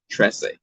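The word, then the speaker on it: Trese: And then I heard someone pronounce it and I was like, oh, it's like a white person's trying to say 13 in Spanish. Tresse.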